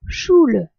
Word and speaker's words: Schule: u l e attention un U sans tréma se prononce ou en allemand alors qu'un U avec trma se prononce U ou u dans le mot choule école le U se